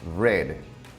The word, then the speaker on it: read: ejemplo el verbo leer read su pasado es red se escribe de la misma forma o sea se